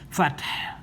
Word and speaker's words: الفتح: We have to drop the dhamma because of pausing here and assimilate this ha that has a letter a together with this syllable fat, so it becomes fath.